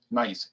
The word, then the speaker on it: Nice: Nice. Oh, that's nice, but they pronounce it Nice.